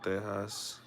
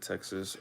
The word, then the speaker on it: Tejas: When I hear people from Spain talk about Texas, they pronounce it Tejas. Also, Latin Americans who identify as Hispanistas, such as myself, also pronounce it as Tejas. The only Latin Americans, pause. I've heard pronounced it Texas are Caribbeans, Colombians, and Venezuelans.